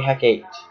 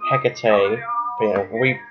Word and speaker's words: Hecate: the new Mark III Hec 8. Or Hecate. Depending on how you pronounce it.